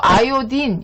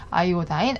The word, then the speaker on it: 아이오딘: 소독제의 종류에서 뭐 이렇게 있는데 여기 보면 아이오다인 했는데 이걸 이제 뭐 영어를 읽을 때 아이오다인이라고 읽고 아이오딘 이렇게 읽기도 합니다.